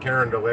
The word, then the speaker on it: Carondelet: or Karen delay it's Carondelet they pronounce it like it's French and hell it could